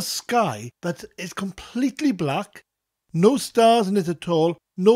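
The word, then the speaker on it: nos da: buh duh buh finally we have the phrase no star which means goodnight no star now it sounds like I'm saying there are no stars in the sky no star but it's spelt nos Norse followed by da knows meaning night da meaning good no star no star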